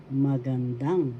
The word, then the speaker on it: magandang: First syllable ma, second syllable gan, third syllable dang. Magandang. The third syllable has the accent magandang.